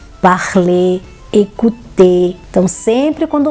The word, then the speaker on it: parler: A pronúncia correta é regarder, parler, écouter.